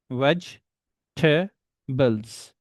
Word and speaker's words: vegetables: So, regarding vegetables, there are three syllables on this word. Veg ta bles.